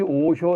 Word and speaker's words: 오쇼: 화상의 일본어 발음이에요. 그러니까 화상을 일본말로 오쇼 이렇게 부릅니다.